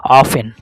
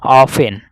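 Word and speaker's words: often: इसे पढ़ा जा रहा है ऑफेन। ठीक है? ऑफेन मतलब टी का उच्चारण क्या हो जा रहा है? यहां से समाप्त हो जा रहा है सर।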